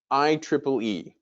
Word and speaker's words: IEEE: for poe so um i triple e and yes that's exactly how you pronounce it i triple e so